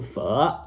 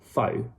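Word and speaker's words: phở: if so i'm eating fur right now and i hate it when people don't pronounce it right so guys it's not faux and i'm not vietnamese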